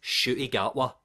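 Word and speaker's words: Ncuti Gatwa: It's Shooty Gatwa. He's Scottish. You don't pronounce the T's.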